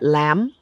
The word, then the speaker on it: lamb: in the English language something like lamb we know we don't say the B but In Kenya, they say lamb.